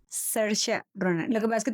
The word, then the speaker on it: Saoirse Ronan: Actuada por la actriz caribonita, ¿me recuerdas cómo se pronuncia su nombre? Saoirse Ronan. Saoirse Ronan.